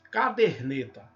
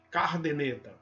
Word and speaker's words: caderneta: Então vejam aí, ó, caderneta. E o cara traz, algumas pessoas pronunciam esse R trazido para a primeira sílaba. Cardeneta.